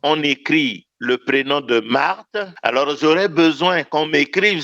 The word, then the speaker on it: Marthe: écrire le prénom de Marthe, que j'écrive juste comme j'ai entendu, M-A-R-T-E, non. Il ne faut pas que je méprise ou que je saute le H muet qui est là.